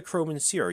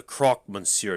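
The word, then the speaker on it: Croque Monsieur: let's start with introductions you're the crowman sierra you're not that's the croc monsieur to you mon do people always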